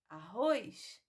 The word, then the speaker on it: arroz: três Outro exemplo é a palavra arroz arroz não tem i na última sílaba mas nós pronunciamos como se tivesse P Paz e Luz